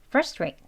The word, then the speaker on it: frustrate: 발음을 할 수가 있습니다 두 가지를 다 알고 계셔야 문장 속에서 강조할 때는이 강조하는 발음으로 하시고요 그리고 그냥 대화 속에서 휙 지나가듯 하는 발음은이 약한 발음으로 frustrate frustrate이라고 하셔야 되겠죠이 발음을 둘 다 다 알고 계셔야이 빠른 발음도 들립니다네 수고하셨습니다 practice perfect 있니다